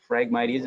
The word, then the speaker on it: Phragmites: Phragmites, the word, starts with PH, so Phragmites is how you say that, invasive Phragmites, and it